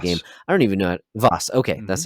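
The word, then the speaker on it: Vaas: have the antagonistic game i don't even know vos okay that's how you pronounce it i was seeing it vos it's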